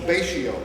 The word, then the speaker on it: Betio: The Tarawa Atoll, the largest island, is called Betio, B-E-T-I-O. They pronounce S's as T's in Gilbertese.